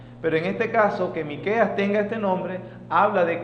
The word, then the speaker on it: Miqueas: le conoce este nombre se puede pronunciar como micaías miqueas es la forma más abreviada miqueas fue contemporáneo con